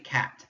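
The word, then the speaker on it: quatre: a q or a q u just pronounce a k so it sounds like you're saying cat meow meow cat and those last sounds so we're not pronouncing the e since it's the last letter we are trying to make that r but it's coming out very soft capped in fact when i say this in a sentence you're not going to hear the r at all so if i want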